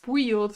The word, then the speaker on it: build: So build is pronounced with just the I. There's no, you don't say the D. It's just build. It's a weird spelling actually. You'd think it'd be pronounced build or something, but it's not.